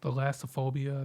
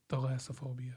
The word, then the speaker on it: thalassophobia: the cuz the fear of the ocean is theophobia I think that's how you say it but wait wait say that again alophia theophobia like th thalassophobia thaasophobia yeah yeah okay and uh so usually